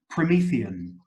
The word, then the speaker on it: Promethean: I've got again the the adjectives from Prometheus which in English sounds like Promethean so promethium fire what